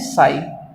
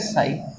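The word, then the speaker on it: psi: ये जो त्रिशूल जैसा है, इसको कहते हैं साई। पी साइलेंट होता है, इसको कहते हैं साई।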